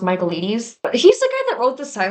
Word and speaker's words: Michaelides: Fury by Alex, I think his name is pronounced Michaelides.